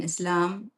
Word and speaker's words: Islam: The S in Islam does not sound like the S in is.